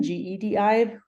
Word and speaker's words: GEDI: So for those of you who don't know, GEDI is the Global Ecosystem Dynamics Investigation, GEDI, like pronounced like Star Wars, because then we get to do all the fun Star Wars stuff.